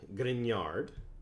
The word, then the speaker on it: Grignard: The second class of organometallic is called the Grignard. There's like a silent G in there. Grignard.